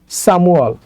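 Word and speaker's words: 삼월: বাচ্চিমের উপরে ইয়ং আছে তো রুলস অনুযায়ী বাচ্চিমটা চলে যাবে ইয়ং এর জায়গায় তো যদি এটা বাচ্চিমটা মিউমটা যদি ইয়ং এর জায়গায় চলে যায় তাহলে উচ্চারণ হবে সামুয়াল সামুয়াল সামুয়াল মানে হচ্ছে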